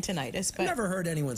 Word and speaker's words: tinnitus: Robin writes, I developed tinnitus. Is that how you say it? I say tinnitus.